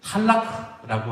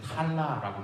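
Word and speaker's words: طلاق: 그런데 이 무슬림들은 탈락라고 하는 탈락, 실제로 발음할 때는 탈라라고 발음한다 그래요. 그리고 이제 영어로 발음하면 탈락.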